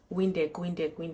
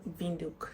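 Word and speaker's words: Windhoek: I was calling it wind wind wind you know like that song now it's vind it's pronounced vuk so in Namibia the W is pronounced as V so if your name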